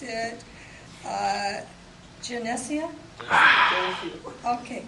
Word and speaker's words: Geneseo: Kenton he's from Sunni and he said to pronounce it uh janesia okay Jania okay sorry about that uh and he's going